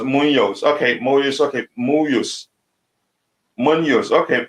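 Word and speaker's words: Muñoz: Kachila, Munoz is pronounced Munoz.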